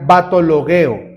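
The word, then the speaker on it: βαττολογέω: En esta palabra de vanas repeticiones o hablar solo por hablar, sí se traduce así, pero el originario que es el griego coiné se pronuncia batologueo.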